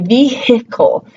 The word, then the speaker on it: vehicle: How many of you say vehicle or exhausted, right? We don't typically give the H any sound in those words.